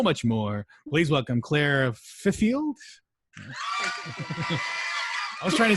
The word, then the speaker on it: Fifield: Fifield.